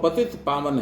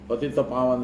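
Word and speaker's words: पतितपावन: हम लोग जो गाते हैं ना, पति तपावन सीताराम, उसमें कुछ कुछ लोग उच्चारण करते हैं पति तपावन सीताराम। पति को तपा देते लेकिन जो ये आपने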